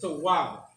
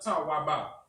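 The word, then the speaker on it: טוב: So it's pronounced Tawab, right? Not Tawaba. The connector here joins the Wa and the Ba. So it's Wab, right?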